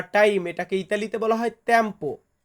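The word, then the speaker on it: tempo: মানে ইতালিয়ান লেখা তো লিখেই দিব পাশাপাশি বাংলা উচ্চারণ লিখে দিব প্রথম শব্দটি রেখেছি সময় সময় বা টাইম এটাকে ইতালিতে বলা হয় তেম্পো তেম্পো মানে হচ্ছে সময় এর পরবর্তী শব্দটি আছে আজ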